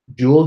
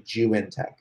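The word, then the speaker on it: Zhiyun Tech: It's the Juintech version 2 gimbal. All right, so check that out. Jewel gimbal? No, Juintech. Sounds like Jew and Tech, but it's actually Juintech.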